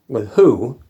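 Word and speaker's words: Lahoud: And Card number 321 is Joe LeHoux. That's how they pronounce it.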